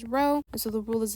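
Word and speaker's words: rho: at records we say row even though it looks like a p we pronounce it as row and so the rule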